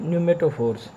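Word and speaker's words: pneumatophores: उसके बाद हमारे पास जो रूट्स हैं वो है न्यूमेटोफोर्स। पी यहाँ पे साइलेंट है, न्यूमेटोफोर्स, ठीक है।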